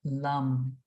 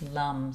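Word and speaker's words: लं: So, we will come to the root chakra and the sound of the root chakra is lum. Okay. So let's inhale visualize the the base of your spine and the sound is lum.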